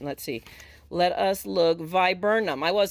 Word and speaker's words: viburnum: by what oh my goodness how does it pronounce again i can't ever get it said right let's see let us look viburnum i was saying it right so see eastern